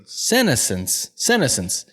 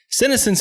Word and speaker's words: senescence: To understand this, we'll have to first look at, how would you pronounce that? Senescence? Senescence. Senescence is a term used to indicate gradual deterioration of the body with age.